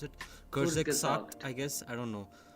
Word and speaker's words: Kurzgesagt: And there's this German channel, I'm not pretty sure how to pronounce it, Kurzgesagt, I guess, I don't know. Kurzgesagt, yes.